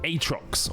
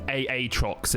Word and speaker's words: Aatrox: another bringer of death atrox or aatrox if you want to pronounce it correctly he received some significant